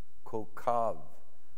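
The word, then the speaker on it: כוכב: So like coke, ko, coke, don't go Coca-Cola, coke, kochav. So kochav is a more proper pronunciation.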